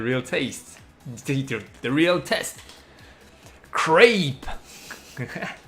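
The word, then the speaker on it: crêpe: Crepe. Crepe. Not creep. Crepe.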